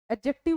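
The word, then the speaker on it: adjective: हम क्या बोलते हैं एडजेक्टिव बोलते हैं इसकी प्रोनंसिएशन का भी थोड़ा थोड़ा सा ध्यान रखना एडजेक्टिव नहीं होता ये एडजेक्टिव होता है डी और जे जब एक साथ आ है डी साइलेंट होता है तो एडजेक्टिव बोलते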